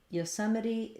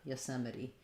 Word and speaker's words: Yosemite: or yosemite um i probably use an if here and this unstressed syllable for the eye so you might find it easier to use a schwa there just to think of it as being very short and yosemite we may also reduce this first o to more of an uh sound yosemite yosemite um so